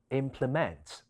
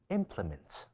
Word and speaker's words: implement: 另外片嘅員工讀咗 implement 將重音放咗喺第三音節，其實正確嘅讀音，應該係將重音放喺第一音節，其餘音